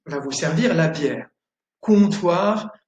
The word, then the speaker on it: comptoir: ON, comme dans le verbe ballon, ballon, et OM, comme dans comptoir. Le comptoir, c'est l'endroit où on va pour commander son verre, où il y a un serveur qui va vous servir la bière. Comptoir, ballon.